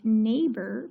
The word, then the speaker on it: neighbor: b word meaning that the e i g h it's making its long a sound so it's an open syllable and we would split the word neighbor between the h and